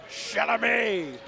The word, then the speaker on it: Chalamet: You got to pronounce it like Adam Sandler did. Chalamet.